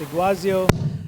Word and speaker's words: Iguazio: Data cloud everyone asked me how do you pronounce nano the company so it's a glossy oh and it's basically based on deck with zoo